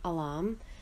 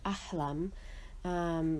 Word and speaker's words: Ahlam: My sister-in-law, her name is Alam, which actually means, and pronounced in Arabic, is actually Ahlam, which actually means dreams in Arabic.